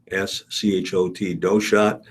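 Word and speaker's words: Doeschot: his Arrangements don't shot it's spelled d-o-e-s-c-h-o-t doe shot Urban Lyle doshat 86 of Lincoln uh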